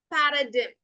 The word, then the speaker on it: paradigm: The pronunciation is actually paradigm. Okay, ചെറിയ mistake വന്നതാണ്. Paradigm എന്നാണ് കേട്ടോ pronunciation വരിക. Paradigm അല്ല, it's paradigm. Paradigm. Okay, and the letter G is completely silent.